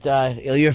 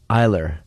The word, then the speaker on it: Iler: true But I said, you know Robert Ilier from The Sopranos is here and he waved at everything.